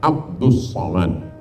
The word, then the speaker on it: Abdul Somad: awak yang salah baca tulisannya Abdul Somad tapi membacanya adalah Abdus Somad ah jadi nama ini